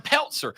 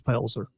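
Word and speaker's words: Pelzer: is openly she's from Peltzer a place so country the Z is pronounced it's it's palzer Peltzer I have been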